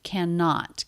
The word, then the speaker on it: cannot: the unstressed syllable cannot we definitely want to stress the negative cannot cannot we have two ends it's just a single end sound can not cannot I